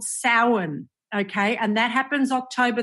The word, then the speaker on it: Samhain: All right, but it's pronounced Samhain.